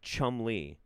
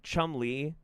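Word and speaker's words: Cholmondeley: place name schol schend schmy pronounced Chum Le off how does that pronounce Chum Le also Chumley that's a that's a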